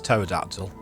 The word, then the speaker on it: pterodactyl: sorry I can pronounce pterodactyl there apparently some people pronounce with a hard P which is interesting pterodactyl pterodactyl oh pants oops oh